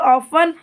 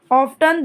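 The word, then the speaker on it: often: आप दोनों इसका प्रोनाउंसिएशन कर सकते हैं, मतलब ऑफन ऑफ्टन दोनों बराबर है, मतलब दोनों सही हैं, बराबर नहीं कहेंगे, दोनों सही हैं, दोनों का उच्चारण ठीक है। कंफ्यूज नहीं होना। ऑफ्टन भी ठीक है और ऑफन भी ठीक है।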